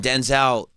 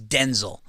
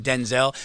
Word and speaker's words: Denzel: His real name is like his mother, his birth name is Denzel, but everybody has been saying Denzel, but his real name, the correct way to pronounce his name is Denzel.